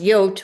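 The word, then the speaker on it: Jood: This was the star I had to wear and our stars had J O O D in black letters, which is uh pronounced "yote", which means Jew.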